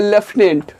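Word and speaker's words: Lieutenant: जिस तरीके से प्रोनाउंसिएशन होता है उसके हिसाब से इसका ये स्पेलिंग नहीं होता है। इसको पढ़ा जाता है लेफ्टिनेंट, लेकिन होता है क्या, ये ल्यूटिनेंट होता है।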